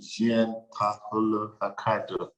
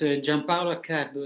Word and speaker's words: Gianpaolo Accardo: are also joined by Jean Paolo Acado. In my mind, I think I didn't pronounce it that well. So please, can you help me with the correct pronunciation and kindly forgive me? No, it's fine. It's Gianpaolo Accardo. It's an Italian name.